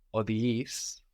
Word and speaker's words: οδηγείς: So you were using οδηγεί, οδηγείς, which means you took a decision about this verb with an accent on the end, no?